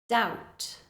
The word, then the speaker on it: doubt: Doubt, doubt. In these words, you should just imagine that the B is not there at all, and that will help you to say the word more correctly.